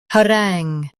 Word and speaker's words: harangue: ha rangue harangue Emphasize rangue and keep ha light.